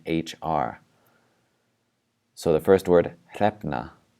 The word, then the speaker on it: hrefna: So the first word, hrefna. If this is really hard for you, just try pronouncing the two letters separately. The h for the H and then the r for the R.